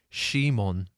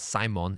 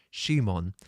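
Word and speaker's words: シモン: his name in Japanese it's technically it's Shimon but it's it's only because the Japanese do not have a character in Japanese for C so the closest they have is she so that's why his name is Shimon not Simon which is possible in Japanese it's not it's not Simon it's Shimon and the closest thing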